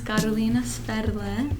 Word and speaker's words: Karolina Sferle: It's Karolina. My full name is Karolina Sferle. That's how it's pronounced.